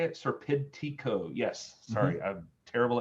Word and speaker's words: Serpentico: Serpentico.